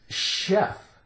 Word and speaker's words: chef: sh sh we have ch H in some words it sounds like sh as in the word chef chef basically a high caliber